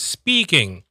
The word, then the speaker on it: speaking: In Arabic, there's no sharp s like that. What happens is something we call a lead in. A lead in, meaning people usually is. They add the e in front of the s. So es. So the word here is speaking. Speaking, like tawali, speaking. Okay, so there's no S. No S speaking.